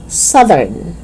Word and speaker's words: southern: know hold your reins it's south voiceless but when you add urn it becomes voiced southern okay soothe it's not